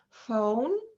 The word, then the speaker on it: phone: when it comes with the h letter in phone elephant pharmacy so the digraph p plus h is uh pronounced as f sound okay and also the